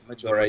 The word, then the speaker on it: Majora: Was it Major Mask? I always mispronounce the first name. Majora, yeah.